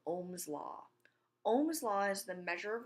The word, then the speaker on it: ohm: something called Ohm's law Ohm's law is the measure of resistance in oldest which rhymes with homes and it's actually it